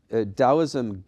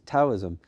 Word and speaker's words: Taoism: just as often times dosm gets mispronounced because of that t- spelling yeah is TSM uh often times I